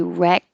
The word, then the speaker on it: wreck: when you just say wreck by itself you don't hear the k wreck rec you hold your tongue in the k position so if it was by itself um i was a wreck that's it i was a wreck but if there's a vowel after it then you release it rec call i